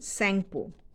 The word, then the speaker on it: Tsangpo: Sangpo. T is silent. Sangpo. Tsangpo.